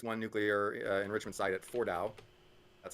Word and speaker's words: Fordow: take out this one nuclear enrichment site at Fordow. That's how that's pronounced.